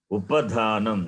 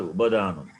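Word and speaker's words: उपधानम्: Pa, pha, bha, bha, ma. Upadhanam, not Ubadhanam.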